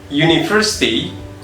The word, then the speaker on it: university: For example, penggunaan university itu letaknya di sini. University. Kenapa? Karena pronunciation pada huruf uni itu diawali huruf y atau y. Jadi menggunakannya a university, bukan an university.